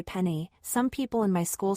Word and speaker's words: penne: If you're Italian and you're saying penne, you're meant to say penny.